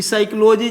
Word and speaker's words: psychology: अंग्रेजी तो आप लोगों को बता ही चुका हूं कि साइकोलॉजी जैसे कि बहुत सारे बच्चे हैं जो साइकोलॉजी का एस वाई से उच्चारण कर देते हैं लेकिन पी यहां साइलेंट है।